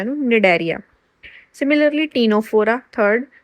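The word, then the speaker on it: Cnidaria: सी तो हैगा निडरिया देखो सी जो है ना वो साइलेंट है वि एन तो ही त प्रोनाउंस करना है इन निडरिया सिमिलरली टीनोफोरा थर्ड सी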